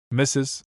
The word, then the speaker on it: Mrs.: Mistress, usually pronounced Mrs.